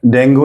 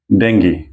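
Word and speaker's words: dengue: मय okay ठीक है तो डेंगू नहीं है ये और डेंगी नहीं है क्या है ये डेंगी ये एन जैसा है ना लिचे में कर्व हुआ है तो इसको हम प्रोनाउंस करते हैं ंग तो ठीक है तो क्या है ये डेंगी डी को थोड़ा ऊंचा बोलना है क्योंकि यहां पे स्ट्रेस सिंबल आ रहा है डी का लेफ में तो इसका मतलब डी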